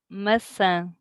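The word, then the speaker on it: maçã: possible please so apple messenger it's more nasal the the a in the end it's messeng and masa like pasta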